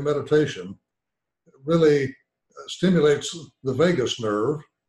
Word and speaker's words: vagus: it really stimulates the vagus nerve the spell VA GU is pronounced like Las Vegas which then to tributes